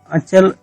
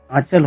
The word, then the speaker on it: अंचल: अंचल, आप लोग सोच रहे होंगे आंचल होता है तो अंचल क्यों? वास्तव में जो सही उच्चारण वाला शब्द है और प्रयुक्त सही शब्द है वो अंचल ही होता है।